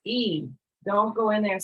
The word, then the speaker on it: y: The letter Y is pronounced E. Don't go in there and say gatos, Y, perros. Don't do it. It's E.